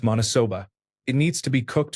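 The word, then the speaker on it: maniçoba: There is a common dish in northern Brazil called manacoba, pronounced monosoba.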